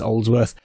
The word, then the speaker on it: Aldsworth: Now, let us venture away from that digression and instead head towards the village of Oldsworth. That's Aldsworth, not Oldsworth, it's Aldsworth, but pronounced Oldsworth.